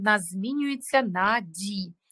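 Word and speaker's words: dit: Так, dire, форма в нас буде на пасі ді. Ді, три літери, те не читається, да?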